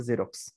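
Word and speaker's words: Xerox: ওকে আরেকটা রয়েছে ধরো এক্স দিয়ে যেমন হচ্ছে জেরক্স কিসের নাম একটা বিশ্ববিখ্যাত ফটোকপিয়ার ব্র্যান্ড ওকে খুব বিখ্যাত একটা ফটোকপিয়ার ব্র্যান্ডের নাম হচ্ছে জেরক্স তাহলে এখানে এই যে জেড যা সাউন্ড এসেছে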